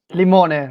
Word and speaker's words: Limone: Limone, right.